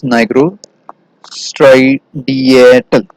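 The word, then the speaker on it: nigrostriatal: So we pronounce it as nigro striatal.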